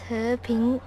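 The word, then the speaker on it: 和平: Peace in Chinese is pronounced as He Ping.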